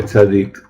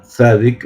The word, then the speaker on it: tzadi: Entonces, ¿cómo se escribe tzadik? Está dicho en Dikduk, en el hebreo. En realidad, la letra tzadik, nosotros la llamamos tzadik, en realidad se llama tzadi.